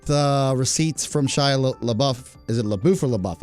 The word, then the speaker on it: LaBeouf: And LaBeouf is pronounced LaBeouf. It means in French, it means the beef.